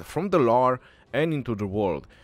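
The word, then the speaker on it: Loire: it says from the lore and into the world lor i believe is the best way to pronounce it which is come from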